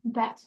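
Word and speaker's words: בית: Then we have, I don't know the Hebrew pronunciation, I know the Yiddish pronunciation means, what's the Hebrew pronunciation? Bet. Bet, okay, as easy as that. And it's actually 2 letters. It's like bays and bays, or bet and bet.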